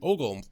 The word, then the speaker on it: ogle: No, oogle is wrong. Ogle is right.